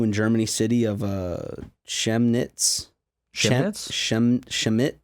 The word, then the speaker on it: Chemnitz: far-right protests continue in Germany city of uh Shem knits shim-sham it chemnitz he pronounces chemnitz Missi CH e MNIT Z commutes